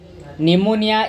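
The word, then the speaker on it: pneumonia: chromosome जीवा next question निमोनिया इज an infection of the days P eighty silent तो निमोनिया इज एन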